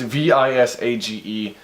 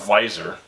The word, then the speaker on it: visage: and his visage, wait, is that, it's V-I-S-A-G-E, it's not visor, it's visage, why can't I freaking,